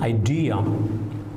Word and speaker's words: idea: If you have a word like idea, you will pronounce it as idea. We put the stress on the second syllable and you put it as idea.